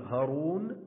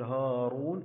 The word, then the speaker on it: هارون: كذلك بالنسبة لهارون، إذا لا نقول هارون ولكن نقول هارون، إذا ننطق الألف ولا نكتبه.